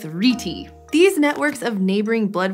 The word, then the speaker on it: rete: Incidentally, I saw this pronounced as reti and reet, so for this episode, we're gonna go with reti.